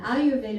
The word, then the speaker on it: Ayurveda: And some people say, oh, that long word, and I don't know how to pronounce it, So, Ayurveda. Think about Ayur life, okay?